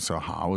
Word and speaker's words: 好: So 好 is an adjective meaning good. Yes. In this third tone.